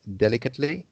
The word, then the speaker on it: delicate: They did it delicately, you see. So the rule is, if it's an adjective or a noun, then the sound is ut.